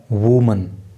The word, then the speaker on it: women: देखो, जब WOMAN होता है तो उस समय ये नाउन एक वचन होता है और इसका जो प्रोनाउंसिएशन अर्थात जो इसका उच्चारण होता है वो होता है वूमन।